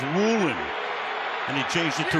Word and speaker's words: Woolen: football knock it away spelled like it should be woen but he prefers Woolen and he changed it